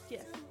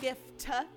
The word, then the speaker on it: GIF: Like GIF, a gift. If you put a T at the end, GIF it'd be is a a gift. peanut butter. GIF is peanut butter and spelled with a J.